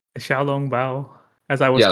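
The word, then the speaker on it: xiaolongbao: Shalom Bao? The Xiaolong Bao, as I was Yeah, like taught that.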